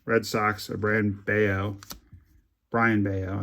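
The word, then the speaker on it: Brayan Bello: This is a color match red socks a brand beo Brian Beao I think is how you say it even though it's spelled Brian but it's a four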